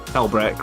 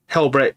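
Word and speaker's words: Helbrecht: Let me bring up Helbreck a minute, because maybe I'm saying his name wrong. I'm pretty sure it's Helbreck, right?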